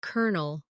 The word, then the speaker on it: Colonel: For example, Colonel is spelled Colonel, but sounds like Colonel, or Bologna, which is spelled Bologna, but pronounced Bologna.